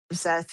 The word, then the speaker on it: Szeth: Whoever's in charge uh Zeth right now is very dangerous sounding.